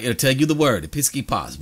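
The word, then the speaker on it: ἐπίσκοπος: There is the pronunciation, episkopos.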